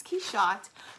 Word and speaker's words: Quichotte: he shot he shot and I know it's key shot because the book opens with an explanation of how to pronounce it it's called quixotic notes on pronunciation